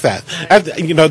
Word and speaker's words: Breiseth: Breiseth? Oh, I was just going to say, why don't I just say it for you? Okay. Breiseth. You're pretty close. Breiseth.